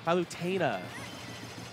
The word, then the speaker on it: Palutena: So onto the anchor for Palutena, and can you guys say it right? Palutena. That's what how I say it. But it's Palutena. Palutena?